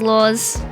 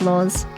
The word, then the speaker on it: Laurs: be out soon um my name is LS and you can find me on Spotify as laws and if you can't spell it it's l a u r s um yeah that's me